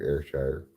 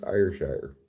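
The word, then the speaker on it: Ayrshire: hi Bobby I remember airshire it's the place that's not pronounced IR Shire Oregon take the Sixpoint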